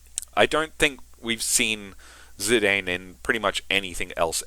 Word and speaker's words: Zidane: I know his name is supposed to be pronounced Zidane, but I grew up calling him Zidane, so whatever.